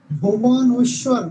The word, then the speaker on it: ভুবনেশ্বর: ভুবনেশ্বর। ভুবনেশ্বর মানে উচ্চারণ করতে আমাদের দাঁত ভেঙে যাওয়ার মতো।